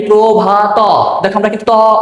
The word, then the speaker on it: প্রভাত: অ আমরা বলেছি যে ত এর সাথে অ যদি উচ্চারিত হয় তাহলে তয় হবে কিন্তু যদি অটা উচ্চারিত না হয় সেখানে আমরা হব তাহলে দেখো আমাদের উচন কি প্রভাব নাকি প্রভাত বলি না প্রভাতটা বাদ দিয়ে উচ্চারণ করি তাহলে সেই কষেত্রে আমাদের লিখতে হবে আর নিচে একটা হস এবং অবশ্য মনে রাখবা